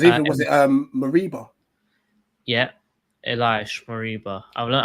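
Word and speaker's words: Ilaix Moriba: Yeah, Elias Mariba. I've learned how to say his name now. Who's that? Oh, did you see Dan's tweet? I called him Iliax Morbia, didn't I? Yeah, X's a Z.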